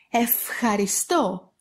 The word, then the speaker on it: ευχαριστώ: Ευχαριστώ, ευχαριστώ. And also they pronounce like av and ev before a vowel or before v, γου, δου, λου, μου, νου, ρου.